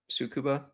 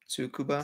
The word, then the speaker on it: Tsukuba: available from the Nurburgring to tsukuba can I pronounce that right sukuba tsukuba sorry I was looking yeah it's a glow